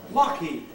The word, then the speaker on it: Lockheed: They decided they wouldn't spell it the way it was spelled. They'd spell it the way that this was pronounced. Yeah. And this is pronounced Lockheed.